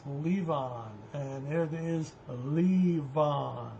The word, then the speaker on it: Levon: Now, the question everybody wanted to know, how do you pronounce Leon? And there it is, Leon. It's not Levan.